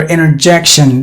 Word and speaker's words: interjection: the punctuation x' here interjection that T is silent and then the point the point is we're talking about the American English not the British English supporting the T is done and then interjection here